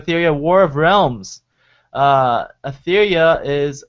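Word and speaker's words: Aetheria: out return of etheria War of Realms uh etheria is spelled a e t h e r i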